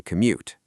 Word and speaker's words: commute: It's 2 syllables. Co-mute. Co-mute.